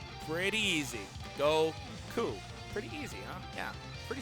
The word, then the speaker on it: Goku: So in Japanese, the number 5 is pronounced go. Number 9 is ku or Q. Pretty easy. Go ku.